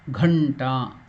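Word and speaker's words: घण्टा: So after that letter is not the g of the first alpa prana, it is mahaprana. Ghanta. Gha. Ghanta. So again ta is dirgha. Ta. So these are all the differences you have to note while pronouncing.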